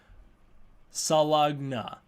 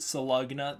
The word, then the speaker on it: Salunga: When the Singular Point reviews start coming out, I pronounce it Salugna the entire time, and it takes me until the very last review to figure out that it's written Salunga.